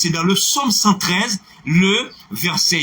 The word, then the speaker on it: psaume: Il faut prendre le P en français. Psaume.